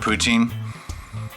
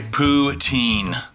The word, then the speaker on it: poutine: can have a poutine you can even say ptin and uh they'll give it to you so it's not like who cares if you say it wrong really but the French Canadians are very proud of their psin and they like to correct anybody and everybody on how to say it which is fine I